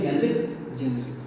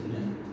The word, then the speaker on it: generic: GENERIC, इसको pronounce करते हैं जेनरिक, 99% बोलते हैं जेनरिक। If this word is pronounced as जेनेरिक, लगता तो जेनरिक ही ना, असली प्रोनाउंसिएशन इसलिए जेनेरिक।